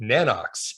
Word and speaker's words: Nanox: So I never pronounce things correctly, as Dana knows, but I always thought it was Nano X imaging, because I think there's I've always said that, and now I've self-corrected myself.